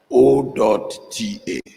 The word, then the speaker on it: Ota: Is O.TA. Ota. Ota. Ota is spelled the same way.